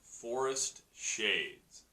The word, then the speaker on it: 4est Shades: Our organization this week is Forest Shades. That is Forest, spelt with the number 4, E-S-T, Shades.